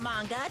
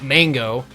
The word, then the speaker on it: manga: It's not mango. It's obvious you can't win. Never was too sure on how to pronounce manga.